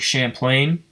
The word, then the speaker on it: Champlain: But Champlain Valley Rail Snapshots says, if you're ever in Lake Champlain, is that how you pronounce that? Is it Lake Champagne but with an L? Champlain, yeah.